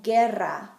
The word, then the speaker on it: guerra: If the G comes before a UE or a UI, the U is going to be silent, like in guitarra, guitar, or guerra, war.